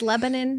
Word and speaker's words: Lebanon: It's Lebanon, not Lebanon?